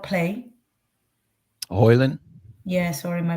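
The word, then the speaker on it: Højlund: Because I read the Holland might not play. Hoyland? Yeah, sorry, my pronunciation of the surname of Rasmus is always Really?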